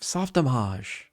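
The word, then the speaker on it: Softimage: It's because it's a Canadian company. It's a French Canadian. It started out French Canadian and it was soft homage.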